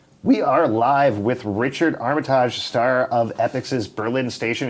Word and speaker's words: Armitage: As mentioned, I'm here with the awesome, multi-talented Richard Armitage. Thank you for joining us. You're welcome. Thank you for Frenchifying my name. Oh, did I? Wait, how do you pronounce it? No, it's Armitage. Armitage.